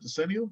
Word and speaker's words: decennial: and westchester county and the 2010 decennial census that's the right way to pronounce that decennial okay um i'm getting